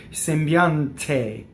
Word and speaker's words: sembiante: Sembiante, and do that, right? So we could practice sembiante, sembiante. See, take it from the D, make it the T.